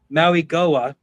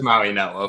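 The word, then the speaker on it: Mauigoa: Most of most of y'all have said it incorrectly to be fair. I'm not going to say it correctly either. Uh this is where I see Francis Maui Goa. So I'm gonna going to try it. Uh I believe it's Maui Noah for what it's worth.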